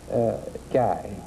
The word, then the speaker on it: Guy: Now, you're Guy Hatfield? Now, where are you from? G? Is that how you pronounce it, G? Guy. Guy.